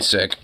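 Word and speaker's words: Sikh: of the cultural Society am I saying it wrong is it supposed to be sick no it's seik you're saying it right no it's technically well no it's actually sick if you actually ask them they'll say sick I mean though I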